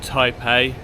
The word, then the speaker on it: Thapae: We're in an area called Thapae. Someone told us to drop the H's when you pronounce words in Thai, as we incorrectly said Phuket to him yesterday.